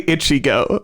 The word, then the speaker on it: Ichigo: Side note, why do you say Ichigo? Ichigo. Like it's itchy. That's how you say it.